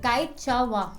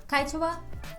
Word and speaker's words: Quechua: तो Kaichawa. I just wrote the pronunciation. Kaichawa.